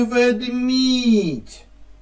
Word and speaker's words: ведмідь: і наш ведмедик так на який склад падає наголос в слові ведміть так на другий А який голосний тут